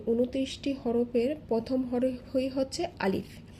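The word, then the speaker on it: ألف: এই 29টি হরফের প্রথম হরফই হচ্ছে আলিফ। আমি যখন আলিফ উচ্চারণ করছি, আ লিফ, আ লিফ, দেখুন এখানে কিন্তু টেনে পড়ছি না।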